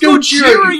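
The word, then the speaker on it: ゴジラ: And then, like, the female lead is like, pronounced Gojira, you morons!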